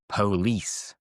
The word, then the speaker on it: police: We don't usually say police. It's like the O doesn't exist. So it becomes police, police, police.